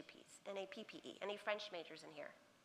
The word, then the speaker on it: nappe: N-A-P-P-E. Any French majors in here? N-A-P-P-E? I can't remember if it's 2 P's or 1, but it's nappe. A little accent on the end, yeah.